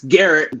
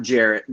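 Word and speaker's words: Gerrit: up to number one it's garrett derrick cole not jarrett garrett cole oh okay that would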